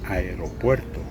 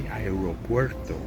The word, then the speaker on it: aeropuerto: Airport, in correct Spanish, should be aeropuerto. But in this country, we say aeropuerto.